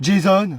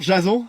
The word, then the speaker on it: Jason: Jason. Ce prénom n'évoque aucune seigneurie, mais allons, soit. Bonjour, madame. Bonjour, Jason. Ouais, ça se prononce plutôt Jason, comme à l'américaine.